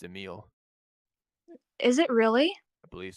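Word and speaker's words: Emilie: I think her name's pronounced Emile.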